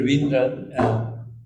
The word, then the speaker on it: Raveendran: Raveendran. And he pronounces Raveendra.